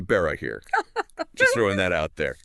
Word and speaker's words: Barahir: I mean, even the mispronounced Barahir. Oh, which, for the record, should be Barahir.